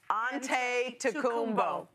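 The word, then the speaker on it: Antetokounmpo: Aante Tumbbo.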